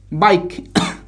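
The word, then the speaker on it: bike: বাইক। কি উচ্চারণ করব?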